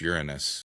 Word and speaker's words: Uranus: It's And it's pronounced Uranus.